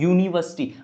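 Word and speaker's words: university: यूनिवर्सिटी। अब इसका जो साउंड है वो स्टार्ट हो रहा है यू।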